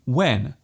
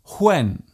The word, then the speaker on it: when: For example, instead of saying when, a person might say when. Instead of what, they might say what. And instead of whip, they might say whip. There is actually no need to pronounce the H so strongly. Just let the sound leave your lips naturally. When, what, whip.